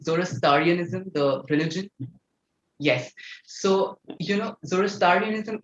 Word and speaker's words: Zoroastrianism: I think I'm not getting it right, the pronunciation, Zoroastrianism, the religion.